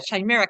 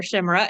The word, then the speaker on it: chimera: get this cleared up think Chicago or think chin chimera or you could think chaos chimera Emerald chimera chimera